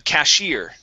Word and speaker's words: cashier: Yeah, so our stress is on that I here. Okay, a cashier.